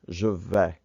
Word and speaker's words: je vais: Make sure that you pronounce I'm going or I go as je vais, je vais. The others have the pronunciation va, tu vas, elle va, il va, on va.